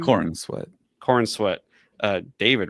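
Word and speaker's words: Corenswet: corn sweat.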